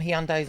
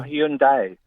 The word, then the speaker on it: Hyundai: Oh, It's pronounced Hyundai. It always is. It's drop the I, so it's not Hyundai. It's not Hyundai. It's Hyundai. Hyundai, why- like but there's why a do- Y on the end of it.